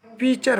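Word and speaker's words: pitcher: Venus flying traps and पीचर plant, ठीक ना, हाँ, ये दोनों जो पौधे हैं, यानी Venus flying trap and पीचर plant, पीचर T silent है, पिक्चर नहीं बोलेंगे, पीचर प्लांट, ये जो दोनों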